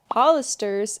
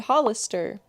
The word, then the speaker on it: Hollister: Hollisters is not the official name of the store. It's called Hollister. They be having is informal English. A lot of is an informal contraction of a lot of. The correct way to say everything is I would say Hollister.